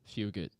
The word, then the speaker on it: Fugit: Fugit. Hey, like FEW, few. Fugit.